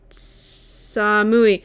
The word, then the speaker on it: samui: Samui. Samui! That was it! Thank you. I was pronouncing it wrong.